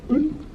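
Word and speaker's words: øl: And if you want to get the pronunciation exactly right, you have to imagine you've already had about 12 and you go un. That's how you get the Danish vowel going on there.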